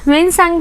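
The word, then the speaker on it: Xuanzang: तब आए थे ज़ुएनज़िंग। ओके, ह्वेनसांग भी इनको प्रोनाउंस किया जाता है इन संस्कृत लैंग्वेज में।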